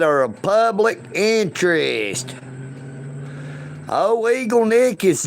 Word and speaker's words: Eagle Nick: It is Eagle Nick. N I C K, not Eagle Duck.